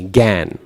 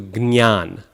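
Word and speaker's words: jñāna: So the Hindi pronunciation is kind of gyan is kind of a bit off. Bengalis even do something totally different. They do gan, right? And then you lose not only the nasal but the Y as well, the ya, nya sound. It's just the G, gan, okay? So the South Indian pronunciation is probably the closest, where we do gnyan, gnyan.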